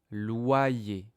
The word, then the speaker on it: loyer: Alors, quelque chose de très très intéressant, le loyer. Tous les mois, je paye le loyer au propriétaires. Ouais. Mais loyer, regarde la prononciation. loyer. On a loi loyer. Le Y ici, il a deux sons.